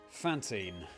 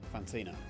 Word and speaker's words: Fantina: Right, Fantine. Let's go. Fantina, sorry. Sorry for getting your name wrong.